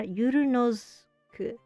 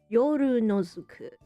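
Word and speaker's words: ヨルノズク: Oh, Yorunosuke. Oh, it's Yoru night.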